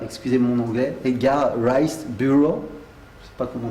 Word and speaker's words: Burroughs: Si quelqu'un veut me dire comment on prononce ça en anglais, Burroughs.